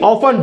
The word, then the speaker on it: often: Meaning, ऑफ्टन नहीं, ऑफन, जहां जहां TEN लास्ट में आता है आप कह सकते हैं, अब मैं 10 बोलूंगा, ठीक है बोल लो भाई आपकी मर्जी, लेकिन क्या है मेन वो T साइलेंट होता है, जैसे लिसन, ग्लिसन, ऑफन, ठीक है।